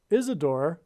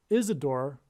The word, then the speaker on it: Isidor: it is said that Isadore sorry it's probably pronounced Isidore it is said that